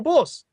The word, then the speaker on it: Bose: Sir Han Chandra Bose his surname is spelled Bo se if you ever watch late-night television you see commercials for bose stereo equipment bose uh you know earphones bose stereos all that high-quality audio equipment that's his family that's